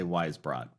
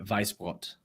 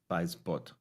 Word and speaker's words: Weisbrot: Well, so I use this pronunciation with people that are outside of America, mostly Europeans, and it's actually German. So the pronunciation would be Weisbrot. Weisbrot.